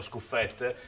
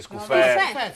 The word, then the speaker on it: Scuffet: 3 minuti e 50, vediamo in porta il grandissimo friulano Scuffet. Io sono abbastanza... Ma lo pronunciano giusto il nome? No, nessuno, ancora no. Chi dice Scuffe, chi dice Scuffet.